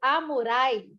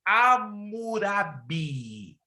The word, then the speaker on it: Hammurabi: não é Código Murai, é Código Amurai. Não, irmã Nalu. Meu Deus, tão pertinho. O que tem a ver? É o Código Hammurabi mesmo? Não, vocês estão pronunciando o nome errado. Ei, Jesus da glória. Código de Amurai. Não, tá errado. Hamurai. Tá difícil. Anote aí. Código de Hammurabi. Hammurabi. A-H. Murabi.